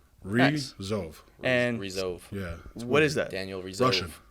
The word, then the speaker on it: Ryjov: thought I nailed it so it's Raj ROV got it like pronounce that it's like yeah r i z h o v is the like pronunciation re ROV yeah what is that